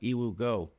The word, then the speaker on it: Yiwugo: There's also like Yiwu Go. It's spelled Yiwugo.